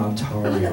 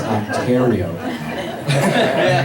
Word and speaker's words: Ontario: It's like, "It's not Ontario, man. It's Ontario."